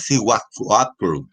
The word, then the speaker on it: Siwak: Realmente la pronunciación es Siwak, ¿ya? Eso es Siwak, es difícil pronunciarlo, ¿sí?